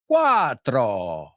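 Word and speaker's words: quattro: For the double consonants, cuatro, sete, otto, try to make the sounds last a bit longer. The vowel sound before, after, or both. Cuatro.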